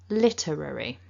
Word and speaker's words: literary: 4 chunks, and that the stress is at the beginning of the word, on the first syllable, literary.